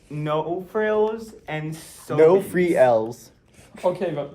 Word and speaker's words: Sobeys: frills and sobies are the only Sober. pronunciation. Yeah. Look, no frills. look, I'm sorry, but that's Fre. Not No E. frials and sobays.